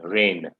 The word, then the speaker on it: reign: okay you're absolutely right that g is silent here okay this is how you pronounce the word r-e-y-n reign okay this is the